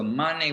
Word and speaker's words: māne: So mane with a long A is glorification.